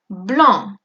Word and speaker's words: blancs: Si on veut faire une phrase au masculin pluriel, alors nous pouvons faire par exemple des escarpins blancs. Añadimos la S al escrito, pero no se pronuncia, ¿eh?